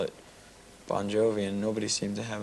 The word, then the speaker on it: Bon Jovi: your actual name is bonjour no it's pronounced bon jovi it's just the the phonetics in italian the gi is a j sound right so you are